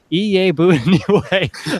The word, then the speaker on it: Iyiegbuniwe: It is going to be pronounced Iyiegbuniwe. Okay, so hold on. I didn't mean to. Iyiegbuniwe. Okay, Iyiegbuniwe.